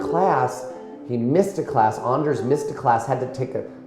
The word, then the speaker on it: Anders: And Anders, by the way, that's how you say it.